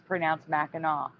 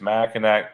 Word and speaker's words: Mackinac: it now okay so Anonymous woman here says it's Mackinac because it's French um people who don't know it always say it wrong it's been something we've laughed at Forever she says Mackinac is the bridge Mackinaw